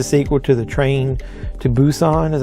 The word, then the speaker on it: Busan: If you're not familiar with this movie, this is the sequel to The Train to Busan, is how you say that.